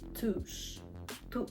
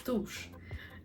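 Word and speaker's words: туш: Mascara is going to be Touch T. Sorry, I don't know why I pronounce it like that. Sorry. It's tush.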